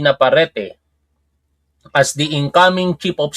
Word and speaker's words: Naparete: Naparete. Tama ba yung pronunciation o Naparet? Naparete.